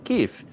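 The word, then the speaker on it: Kyiv: Not just on Thanksgiving, but uh here I in in Kev. I'm practicing my pronunciation there with the the drawn out.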